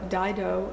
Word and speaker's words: Dido: is from the Opera Dido and Aeneas so hopefully that's not too hard to remember the title put an eye in there just think Dido that's how it's pronounced should be easy on